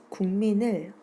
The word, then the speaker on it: 국민: 현상입니다 예를 들어서 볼게요 국민을 국민 이렇게 발음하죠 즉 이쪽에 선생님이 필기를 해 보면 국민 기억과 미음이 만났죠 그랬더니 기억이 인접 의문인 미음의 소리를 닮아서 같은 위치에 있는 비음이 이응으로 바뀌어 발음 되게 됩니다 국민 이렇게 발음되는 것이 동화입니다 초점을 초점 이렇게 발음하는